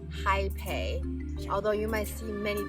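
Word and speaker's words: Hapé: The original word is pronounced Jaipei, although you might see many different versions of the spelling on Western medias. You will also hear people call it Rapé, and there are many other variations.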